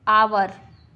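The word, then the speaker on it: hour: आवर, इसमें एच हमेशा silent होता है, एच वाले जो वर्ड्स होते हैं उसमें एच साइलेंट होता है ज़्यादातर।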